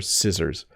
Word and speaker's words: scissors: letters than it needs it doesn't need the letter c as the second letter and so people sometimes Act accidentally try to pronounce the C but these are scissors when you need to